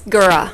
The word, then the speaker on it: Gura: you and uh how how's the last name pronounced I'm sorry thank you it's gura gura I live on bis